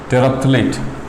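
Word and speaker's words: terephthalate: पी से P silent होता है, टेराप्थलेट, TEREPTHALATE।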